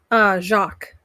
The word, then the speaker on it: Jaques: Jacques. Jacques?